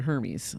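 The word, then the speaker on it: Hermès: you're yes and if you're a horsewoman you pronounce the set and they make saddles you call it a Hermes so that's just well then we shall say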